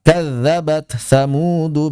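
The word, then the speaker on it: كذبت ثمود: Contoh ta bertemu tsa kadzabat tsamudu bagawaha. Maka jangan dibaca kadzabat tsamudu atau misalnya diidgamkan sifatnya saja katanya kadzabat tsamudu itu pun tidak ada. Tidak ada riwayatnya, tidak ada di kitab-kitab begitu.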